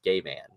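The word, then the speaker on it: Gaiman: his name say yo everyone how do you pronounce your last name and he says it's gay man so um yeah so that's the only re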